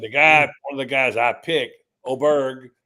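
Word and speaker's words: Åberg: And the guy, one of the guys I picked, Oberg, pronounced Oberg, uh, the kid from Texas Tech and who was such a young player.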